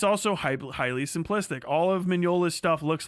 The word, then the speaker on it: Mignola: Mignola. Mike Mignola.